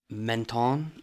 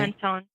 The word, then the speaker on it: Menton: one of those that I always mispronounce, but I think it's Menton. Is that right? Menton. I feel like you have to say it with like a French accent or something.